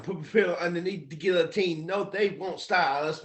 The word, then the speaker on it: guillotine: my pillow underneath the guillotine yeah exactly and that word is pronounced Guillotine by the way just so you know Guillotine like it's French for chopping off your head yeah a guillotine um